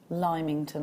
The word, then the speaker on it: Lymington: much is quite possible so how do you pronounce it then limington i'd say south it's just north of the